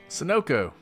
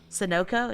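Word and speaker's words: Sunoco: don't ever know how to say this name sonoko sonoko is that right yeah you know why I know that why because in NASCAR sonoko is the sponsor and so all the gasoline is sonoko Racin fuel okay I I I see it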